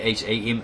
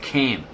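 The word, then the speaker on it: Kham: They were hamites because the K is silent. So it's ham. K h a m is ham, not cam.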